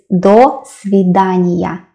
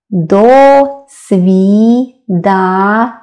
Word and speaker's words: до свидания: And more formal one is до свидания. До свидания. It sounds, of course, it sounds as one word.